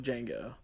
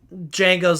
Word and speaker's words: Django: boy and he's like django and he's like can you spell that he's like d-g-a-n-g-o the d is silent and the guy's like